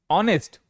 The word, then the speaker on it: honest: ऑनेस्ट एच ओ एन ई एस टी। देखिए एच के ठीक बाद क्या है? ओ है। क्या पढ़ेंगे? ऑनेस्ट। क्या उच्चारण करते हैं?